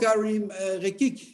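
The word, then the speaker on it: Karim Rekik: I may be pronouncing that wrong. Oh, Karim Rekic.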